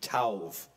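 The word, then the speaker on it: טוב: good is the word Tov in Hebrew it's pronounced t-o-w-v tauv of all the definitions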